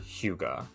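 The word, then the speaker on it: hygge: and family so there's a Danish word Huga and a word I promise for all of our American listeners does not sound the way it is spelled for those curious H YG e and it stands for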